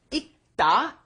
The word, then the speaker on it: 읽다: 읽다, because when it is followed by a consonant, then you must not pronounce it fully. You don't bring up the L sound, so it becomes 읽다